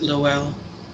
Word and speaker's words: Lowell: Is that how you pronounce it, Lowell?